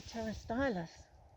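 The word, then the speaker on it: Pterostylis: It's a is it a pterostylus? Yes, yeah, I think so. Pterostylus with a silent P.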